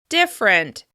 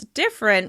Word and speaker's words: different: Different. As you can hear, I pronounce different with only 2 syllables. Different. Different. The second has completely disappeared and I flow right into that R sound.